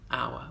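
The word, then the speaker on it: hour: Obviously they're not pronounced in silent words like honour and our, where the H is silent.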